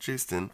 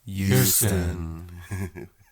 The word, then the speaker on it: Joosten: We today are talking to Stefanie Joosten. We've been saying her name wrong this whole time. It's not Joosten. It makes a yes sound.